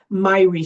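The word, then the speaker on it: Myhre: So I'm going to tell you about a syndrome that I'm passionate about called Myrie syndrome. the doctor who originated. She's Scandinavian descent. Some people pronounce it Mir.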